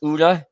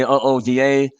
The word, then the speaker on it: OODA: combust his ooda loop i'm told that colonel boyd hated the acronym when he pronounced as uda so in reference to that i'll say ooda observation orientation decision action